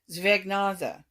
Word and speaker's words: Zwergnase: And she told me that the way it is pronounced in German is Zwergnase.